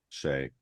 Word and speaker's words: Shai: How how is this first pronounced? Shay. Shay.